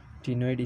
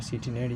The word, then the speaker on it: ctenoid: टिनोइड scales, sorry for सिटिनोइड scales, they are टेनोइड scales. C is silent.